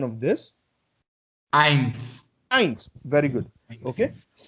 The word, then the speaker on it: Eins: EI, it is pronounced as I. I. Okay. So can you tell me what would be the pronunciation of this? Eins.